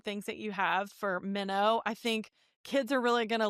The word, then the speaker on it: Minno: So Minnow is spelled Minno. It's actually an Anglican spelling for the Greek word meno, which means to abide.